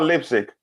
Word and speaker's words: Leipzig: Is it pronounced Leipzig or Leipzig?